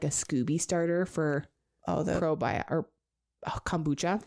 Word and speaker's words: SCOBY: SCOBY. That's what it says. Literally. Rhyming words have to end. SCOBY rhymes with Loki.